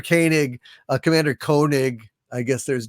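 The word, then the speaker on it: Koenig: the BBC thank you Commander kanig uh or kig as as they said sometimes but really it's K Walter kanig Commander kig I guess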